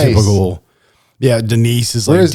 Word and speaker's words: Denise: say like standard normal white people names, but pronouncing it as if it was like all right, D Nice. Typical. Yeah, Denise is Where's like D Nice.